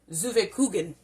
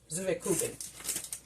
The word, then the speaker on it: Zwetschgenkuchen: Or, let me pronounce it again, Zuwekuchen. Zuwekuchen.